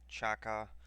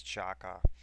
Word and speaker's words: Xhaka: Saturday of uh of Chaka I guess that's that's how it is pronounced a lot of people have been going around like Twitter Reddit trying to get the correct pronunciation of his last name and I guess it is Chaka um but the photos